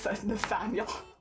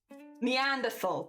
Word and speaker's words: Neanderthal: It's not Nathaniel. Neanderthal. That's how you say it.